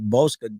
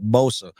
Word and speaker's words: Bosa: that um for the San Francisco 49ers Nick Bosca just got a huge raise I'm sorry I butchered his name Nick Bosa uh he just got a huge rage man